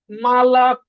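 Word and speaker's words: молоко: তাইলে কিন্তু এটা মলুকো না হয়ে কি হইছে? মালাকো।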